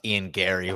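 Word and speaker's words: Garry: else would you pronounce ian gary what do you mean g-a-r-r-y like i could be iron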